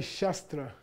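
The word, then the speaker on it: śāstra: talking about okay so this is pronounced as though this were a u in in English Okay say shastra shra shra shra and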